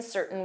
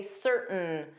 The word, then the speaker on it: certain: It's correct pronunciation to pronounce the T even though it's commonly reduced or dropped in certain words, like certain, or you can turn this into the glottal stop and say certain, certain.